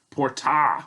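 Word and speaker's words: portā: chest boy right so it's port ah with a long a if you remember the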